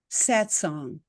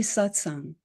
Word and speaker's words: satsang: of throwing the word away if you don't pronounce it properly. So one of the things people say is satsang or satsang. It's actually satsang.